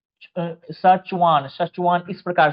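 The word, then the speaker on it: Schwann: जाता है सुान या स्वान मतलब लगभग वही है स्वान में तो यहां पर क्या होता है ना इनको बोला जाता है सचवान सचवान इस प्रकार से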